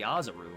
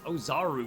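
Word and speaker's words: Oozaru: even called him the azuru and it's just like no it's ozaru guys i mean at least that's how i pronounce it that's how tfs pronounced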